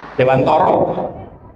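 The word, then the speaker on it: Dewantara: Kelahiran yakin kelahiran diajar dewan dewantoro tulisnya memang dewan bacanya dewan toro. Bukan toro. Toro ya.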